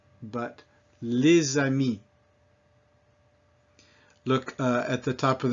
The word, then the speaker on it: les amis: vowel, such as ami, that becomes les amis, and that is a Z sound, not les amis, but les amis.